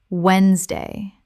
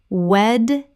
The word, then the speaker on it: Wednesday: Word 1, Wednesday. Common mispronunciation, Wed-nes-day. Correct pronunciation, Wednesday. The middle syllable is completely silent in natural speech.